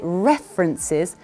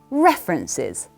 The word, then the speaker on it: references: someone about your references make sure you say references with emphasis on the first e say it with me references references references very well